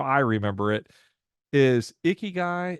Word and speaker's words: Ikigai: And so here's how I remember it is Ikigai is like the sweaty guy in the gym.